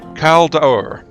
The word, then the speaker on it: Caldaur: Or is it... no, Caldaur. Dower? Dower? No, it's not D-U-A, it's Dower. Dower.